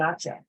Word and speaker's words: hacha: El hacha, the axe. Okay, remember that H is silent, el hacha.